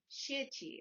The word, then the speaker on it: xie qi: in japanese but it's called jackie or shiichi i believe it's how it's pronounced in chinese sorry if i butchered